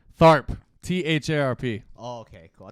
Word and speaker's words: Tharp: Tharp.